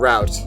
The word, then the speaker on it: route: number 45 route yes northeasterners tend to pronounce it so it rhymes with hoot Midwesterners pronounce it so it rhymes with out just over 30% of respondents said they pronounce it each way route and route so I'm